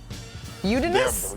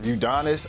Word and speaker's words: Udonis: Udonis. Udinis. Udonis.